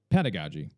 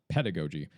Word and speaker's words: pedagogy: to call out first is that it is pronounced as androogi. It is not androgoi. Same thing with pedagogy. It is not pedigogy.